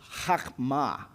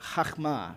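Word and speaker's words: חכמה: That right there is chokma. That's the word for wisdom and it's got a little bit of a guttural sound at the beginning, but chokma, right?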